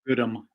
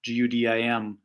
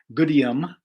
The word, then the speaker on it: Gudim: My last name is Goodham, Gudim, and some people pronounce it Goodium, but then you put an I in there.